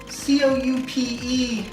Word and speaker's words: Coup: C-O-U-P-E is coupe, I know for a car, but C-O-U-P, that has to be coupe, right? Huh. Coup. The P is silent?